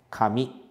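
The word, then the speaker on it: 髪: por k e também por mi e a pronúncia da palavra é a mesma Kami E agora temos a palavra que significa Deus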